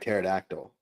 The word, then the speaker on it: pterodactyl: They just want Oh, they just wanted to put the silent P there like pterodactyl.